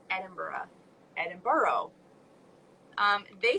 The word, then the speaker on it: Edinburgh: edinburgh like edinburgh like i didn't know how to say it right but that was like way at the beginning before like really my outlander stuff where now i know it's edinburgh is where he you know that's how you say it yeah opera bra